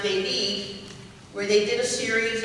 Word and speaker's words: David: Once in the country, they boarded a commuter plane and flew to the little town of David, which is pronounced David, where they did a series of shoebox distributions.